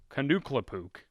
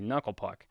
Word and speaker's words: Knuckle Puck: names and of course he pronounces them wrong and tries to be funny and says them you know like for instance kukuk it's obviously knucklepuck anyway so knuckle Puck's